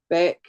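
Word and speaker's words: Baek: And I'm sure Elise Beck Beck, which is spelled B A E K, Elise Beck, she's got free downloads on her website as well.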